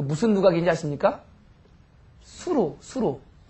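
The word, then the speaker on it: 수루: 무슨 누각인 이제 아십니까 수로 수로 어떤 분은 술로라이프 그 망 본다는 뜻으로 읽을 땐 수라고 읽어야 됩니다 망보는 누각 수로요 아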